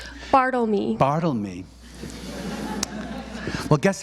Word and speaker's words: Bartelme: And we're about to be joined by the great Reid Bartelme. Bartelme.